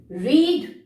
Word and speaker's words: read: And the third example, children, it is R-E-A-D, read. But in the past tense, the pronunciation will change, but the spelling will be the same. Read will become read.